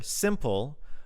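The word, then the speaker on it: s1mple: a good cause uh streamer and pro player simple uh which is spelled s one mple has donated one million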